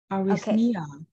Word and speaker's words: arrhythmia: Arrhythmia. Okay. So the first and the last word pronounce the same. You don't actually say it ah, but because it's not stressed. So arrhythmia.